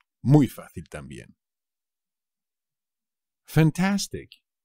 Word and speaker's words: fantástico: p muy fácil también fantástico fantástico también es fácil pero no os olvidéis del acento en la segunda pico me parece fantástico